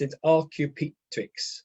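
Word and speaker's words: Archaeopteryx: a creation right right um uh and it's pronounced in rq tweaks you can see over here right it's a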